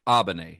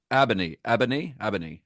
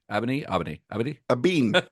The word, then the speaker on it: Abene: I looked it up. Abene. A bean. It's not a bean.